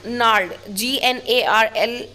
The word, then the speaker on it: gnarled: Ivy vine means gnarled, Gnarled. Its pronunciation is gnarled. Be careful with this.